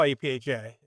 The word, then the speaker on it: APHA: You know, the American Public Health Association, which we call APHA, it's pronounced as a noun, as a thing.